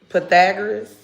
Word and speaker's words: Pythagoras: P Y T H A O R A S I cannot pronounce his name. Correct. Correct. Correct. Pagan. Pythagoras.